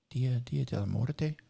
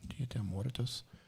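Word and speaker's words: Día de Muertos: Did I say that right? Dia de la Muerte, Muertos. What is it? Day of the Dead. Hold on. I know I said it wrong. Hold on. Dia de Muertos.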